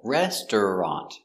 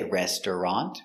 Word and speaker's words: restaurant: next we have restaurant it looks like restaurant but we don't say restaurant we make it with two syllables restaurant restaurant so I want